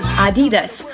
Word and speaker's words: Adidas: так смотрим второй бренд как читается правильно произносится adidas adidas ударение на и название взято из имени